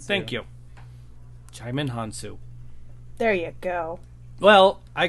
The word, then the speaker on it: Djimon Hounsou: Djimon Hounsou. Djimon Hounsou. Thank you. Djimon Hounsou.